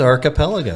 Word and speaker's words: Archipelago: It is Archipelago. Yes, it is. I got it right that time. Aside from my pronunciation of the name, so we got the